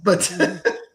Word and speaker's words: Etienne: His name is Yes, Etienne.